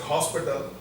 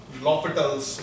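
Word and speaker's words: L'Hôpital: It's written as hospital, but you don't read it as hospital. Okay, the H is silent actually, so you read it as L'Hopital's rule.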